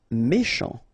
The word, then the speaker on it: méchant: Méchant, final T not pronounced, C-H together, sh, méchant, méchant.